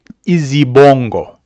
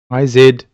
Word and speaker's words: izibongo: In African terms, one might compare this to Izibongo. I'll spell it. I-Z-I-B-O-N-G-O.